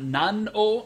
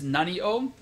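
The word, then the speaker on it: なにを: Notice the pronunciation is not nan o, it's nani o.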